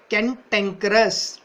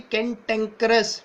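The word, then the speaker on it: cantankerous: ठीक है, इस टाइप के बंदे के लिए यूज होता है वर्ड कैंटेंकरस। टैंक इस पे जोर दे रखा है, देखो वर्ड का प्रोनाउंसिएशन भी कैंटेंकरस, टैंक है जिस पे।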